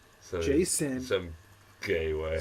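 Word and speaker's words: Jacen: That's a normal name from But it's spelled J A C E N. So Jason some gay way.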